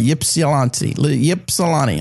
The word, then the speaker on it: Ypsilanti: It's Ypsilanti. Yeah. So is the Y silent? I don't know. It's definitely not silent because then it'd be Psalanti.